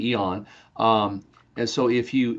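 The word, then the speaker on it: AEON: Again, AON is spelled AE O N. So, everybody pronounces the A, but it's really eon.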